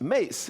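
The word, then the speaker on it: Myss: And there's a woman named Caroline Mace. Her last name is spelled M Yss. Uh but it's pronounced Mace. M like MC, but it's Caroline Mace.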